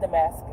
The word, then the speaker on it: Damascus: But since you want to listen to me and everything, it's pronounced Jezebel, it's pronounced Damascus.